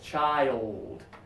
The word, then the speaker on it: child: this from another language just remember to slow it down two syllables child child do it as two syllables you'll be much more